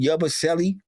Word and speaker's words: Yabusele: How do you pronounce that last name? Yabusele.